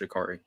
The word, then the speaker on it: Ja'Carri: it's spelled Ja'Carri, which is weird, but I've been told multiple times that it's pronounced Ja'Carri.